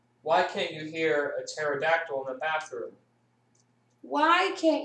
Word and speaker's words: pterodactyl: can't you hear a pterodactyl in the bathroom why can't you hear a pterodactyl in the bathroom I don't know because the P is silent oh my goodness oh